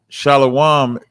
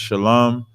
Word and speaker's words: Shalom: said he L okay that's that's what you're doing with shalawam right instead of making instead of making a compound word of just Shalom they're pronouncing a sound that's not necessary to be pronounced okay yeah so that's